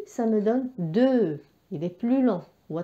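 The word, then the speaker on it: deux: بعد الواحد après le 1 nous avons 2. Donc 2. Alors 2 يكتب D E U X. الإكس لا ينطق، هو حرف صامت.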